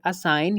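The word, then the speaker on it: assign: Second example है असाइन। यहाँ पर भी हम देख सकते हैं कि जी से पहले आई है उसके बाद एन है।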